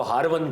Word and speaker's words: हारवनी: एक कस्बा था ईरान के अंदर उसको हारवन कहते हैं। आमतौर पर लोग इसको मिस प्रोनाउंस करते हैं। ये हारवन है जगह और आपके मुर्शिद करीम ख्वाजा उस्माने हारवनी लोग इसको हारूनी पढ़ते हैं।